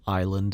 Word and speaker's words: Iland: It's Thomas Iland, and Island is spelled I-L-A-N-D, like Rhode Island without the S.